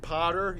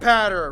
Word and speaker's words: Patter: this okay so it's it's like ladder but pat patter right patter patter right better better